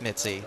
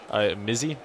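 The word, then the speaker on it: Mizzi: Actually, Matthew, it is in fact Mitzi. That is exactly how it's pronounced.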